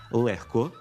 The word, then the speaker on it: легко: Винятком із правила є всього декілька слів – легко, вогко, нігті, кігті, дьогтю, у яких звук «г» вимовляється як «х».